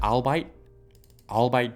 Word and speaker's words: albeit: So it says albeit briefly. I don't know how to pronounce that.